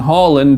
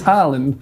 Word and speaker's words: Haaland: We say Erling Haaland because that's how he says his name. Everyone else says Haaland. Well, not us, because we're pretentious and want to pronounce all the names the way that people say them.